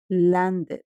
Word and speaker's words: landed: Como pueden notar, el sonido o el último sonido es de una D. Por tanto, yo sé que a la hora de pronunciarlo en pasado, este verbo se debe pronunciar así. Landed, un ejemplo más.